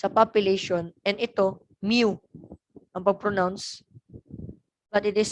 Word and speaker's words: mu: it's a population and ito mu number pronouns but it is spelled out like this m you pronounce this